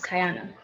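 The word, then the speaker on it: Kai'Onna: do you know so my name is pronounced it's kai and then it's anna but you put it together and it's kiana but you know okay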